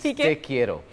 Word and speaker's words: te quiero: अच्छा, लोगों को ये बताएं कि A, how to pronounce it? It's te quiero.